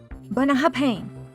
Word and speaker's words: Bunnahabhain: Professor, this distillery is pronounced, “Bunna-HAB-HANE.” “Bunna-HAB-HANE?” Did I say that right? You're close, but don't be afraid to really lean into those final syllables.